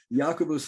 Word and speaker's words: Jacobus: I've been told that it's Well, I've heard some people say Jacobus, but I've I've I've heard from better people that it's like Jacobus. Yeah, Jacobus. I've I've been told that that's a better pronunciation.